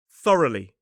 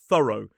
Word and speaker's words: thorough: Oh, and by the way, this word is definitely pronounced thorough, not thorough. That's more similar to the American pronunciation, but this word in British English is thorough and this one is thoroughly.